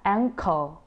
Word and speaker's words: anchor: Thì ở đây nó có chữ chờ trong tiếng Việt đúng không? Vì thế rất nhiều người đọc sẽ đọc, có xu hướng đọc là anchor, anchor gì đó. Nhưng phiên âm của nó sẽ là anchor, cur.